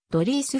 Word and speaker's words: Dries: の 6 人の一人現地オランダ語発音ではドリースファー no 10 祖父の代から続く